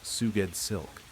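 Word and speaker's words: Sgoueddslk: S G O U E D D S L K, pronounced Suged Silk.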